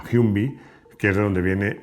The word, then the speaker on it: Humvee: Bueno, toda esta ensalada de iniciales se pronuncia Humvee, que es de donde viene ese nombre.